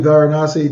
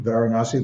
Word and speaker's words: Varanasi: Varinasi. You can reach her at Instagram, Dr. Varinasi.